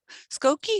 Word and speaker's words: Skokie: thank you i hope you get back to skokie is that how you say it yes goku